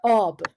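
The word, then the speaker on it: آب: and the most uh the longest you can have for a syllable if you are not singing is on on words like uh ob for example or asp asp means a horse and ob is is water you don't say up up is not taken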